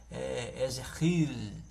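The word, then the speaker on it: יחזקאל: Ezequiel, esse K, eles têm os judeus, eles têm um som gutural na garganta, eles não pronunciam trazendo esse som desse K, não, eles pronunciam, né, Ezequiel, com um som gutural na garganta.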